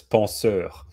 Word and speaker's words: penseur: Can you pronounce that one for me? Yes, penseur.